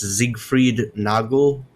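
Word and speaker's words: Siegfried Nagl: At the end of June, the conservative former mayor, I guess it's pronounced Siegfried Nagel.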